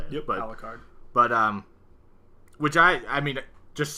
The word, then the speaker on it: Alucard: Yep, Alucard.